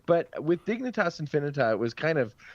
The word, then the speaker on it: Dignitas Infinita: Dignitas Infinita.